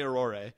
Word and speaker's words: aurorae: They're both correct, or is there they not They are both really... correct. You can say auroras, and you can say aurorae.